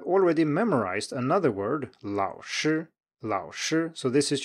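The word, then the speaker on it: 老师: memorized another word laosher Lao sure so this is your memorized word for a third tone plus first tone and you're really good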